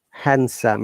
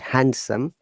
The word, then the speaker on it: handsome: these words if you're handsome it's not handsome it's handsome then handkerchief sandwich not sandwich